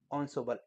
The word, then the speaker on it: ensemble: ensemble, pronounced ensemble, इसको ensemble, इसको क्या पढ़ना है?